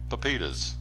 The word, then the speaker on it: pepitas: Chili lime pepitas. Is that how you say it? Yes, sir.